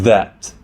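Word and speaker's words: ث: This is Tha, which is pronounced like the TH in thin, thick, and think. This is Jim, pronounced like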